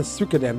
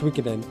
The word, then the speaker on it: Suikoden: I've heard that it's based off of a series called, I guess it's pronounced Suikoden. I would have pronounced it Suikoden, but apparently it's Suikoden.